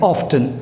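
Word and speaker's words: often: ऐसा कहा जाता है कि मोस्टली अमेरिकन्स जो हैं वो इसे यूज़ करते हैं ऑफ्टन, लेकिन बाकी दुनिया के सभी लोग इसे यूज़ करते हैं ऑफन। तो मैं आपको एडवाइस करूंगा कि आप भी इसे ऑफन ही बोलें।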